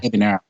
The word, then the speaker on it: Ebener: What was that? Ebener? Is that your last name? Is that how you say? Yeah. Ebener. Ebener. So yeah, good, great.